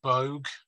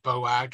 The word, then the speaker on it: Boag: I think it's Bogue or maybe Boag. It's B-O-A-G, Bogue.